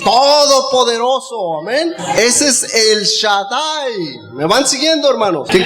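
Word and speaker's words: שדי: Estas tres letras, hermanos, Shaddai, son tres letras, pero se pronuncia así, Shaddai.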